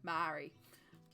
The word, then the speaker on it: Maori: I struggle to pronounce I struggled to pronounce Maori for a long time and I had to remind myself to think moldy like bread to go Maori instead of Maori someone said coach yeah